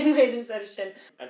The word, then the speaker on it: sinn: We say muid instead of shin. And people all over the world know about shin from Sinn Féin.